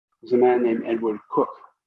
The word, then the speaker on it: Coke: famous english jurists is a man named edward cook spelled coke that's pronounced he was lloyd hart lord high chancellor